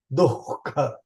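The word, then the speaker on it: दुःख: See, we say dukkha, dukkha. It is not dukkha. It is dukkha. There is a visarga after du. So it will be dukkha.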